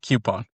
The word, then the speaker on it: coupon: and pepper it with, weird expressions or offbeat pronunciations or just a little spice. And so yeah, Cue-pon it is.